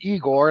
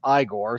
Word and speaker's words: Igor: poor hapless bald guy named eigor and I was desperately waiting for one of them to go it's pronounced igore especially for a con